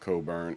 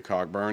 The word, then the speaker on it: Cockburn: They will know his name is pronounced Coburn and say Cockburn anyway.